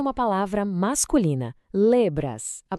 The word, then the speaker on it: bras: O braço, essa é uma palavra masculina, les bras. A pronúncia é le bras. Bem simples, né? Mas não se esqueça que o S no final é mudo, tá?